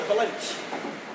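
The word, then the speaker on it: valinch: This is called a valanche. A what? A valanche. How do you spell that?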